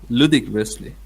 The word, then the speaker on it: ludicrously: For a for a ridiculous ridiculously, yes, ridiculous ludicrously, ridiculous ridiculously small ludicrously, yes, first syllable. ludicrously Hmm.